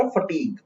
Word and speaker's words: fatigue: इसके प्रोनाउंसिएशन में ध्यान दीजिएगा. fatigue. fatigue का क्या मतलब होता है? Let me know in the comment section. फटीग का मतलब होता है लॉस ऑफ एनर्जी, लॉस